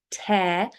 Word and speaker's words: tear: So when it is tear, like hair or bear, okay, that is when there's a hole or a split in something.